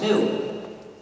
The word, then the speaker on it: GNU: the English language because according to the dictionary it's pronounced new so every time you